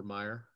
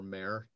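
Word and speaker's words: Mair: name of um paulus hector meyer or mare depending on how you want to argue about the pronunciation he was really a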